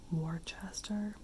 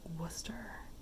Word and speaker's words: Worcester: what i would call warchester i think it's like worcester which i don't know why